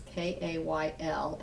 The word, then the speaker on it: Kayl: So that's Kayl, it's pronounced like the vegetable, but it is not a vegetable. It's Kayl, and then her middle initial C, and then, and photography.